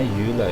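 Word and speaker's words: Eula: Setelah kemarin kita ngobrol-ngobrol banyak dengan Yula maksudnya, bacanya Yula ya.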